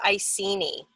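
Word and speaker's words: Iceni: the I scene II I think it's pronounced I see knee that's what I've heard anyway they're talking to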